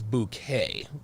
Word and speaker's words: Bucket: her last name was bouquet right like the e and the t is silent her name was hyacinth